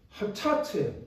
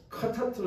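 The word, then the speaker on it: חטאת: 그래서 죄라고 하는 단어가 히브리어로 하타트예요. 하타트. 근데 이제 히브리어의 라고 하는 단어가 어떨 때는 발음할 수도 있고 라고 말씀할 수 있어요. 어려워요. 그러나 어쨌든 뭐 하타트로 읽어도 되고 카타트로 읽어도 되는데 어쨌든 이 죄라고 하는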